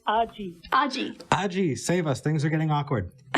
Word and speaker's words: Argy: let's talk with Argy. That's how she pronounces it. Argy, welcome to the show. It's Argy.